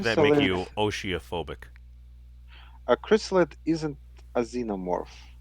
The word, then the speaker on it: Chrysalid: Chrysalids. That one. Chrysalid. It's pronounced chrysalid.